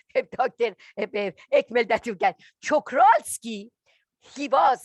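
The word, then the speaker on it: Czochralski: Ekmel that you get, Chokralski, he was I should correct you, Chokralski.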